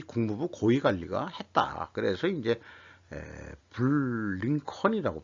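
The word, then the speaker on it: Blinken: 그래서 이제 블링컨이라고 발음하게 돼.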